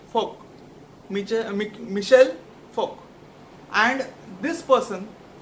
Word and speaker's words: Foucault: Actually, that word Foucault is pronounced like Foucault, Michel Foucault, and this person contributed greatly in the 20th century.